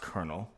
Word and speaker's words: colonel: or Reason to anything the word Colonel is pronounced kernel because when it entered